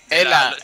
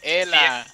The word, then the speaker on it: Hela: Hela, la H no se pronuncia, Hela.